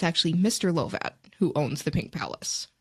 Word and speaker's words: Lovat: So, Mrs. Lovat, I think that's how it's pronounced. Lovat.